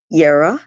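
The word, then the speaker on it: Jera: So the next rune I have, this is Yara, spelled with a J.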